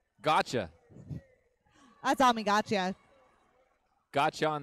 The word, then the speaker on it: Gotcha: Brad, how do you pronounce her name? Gotcha.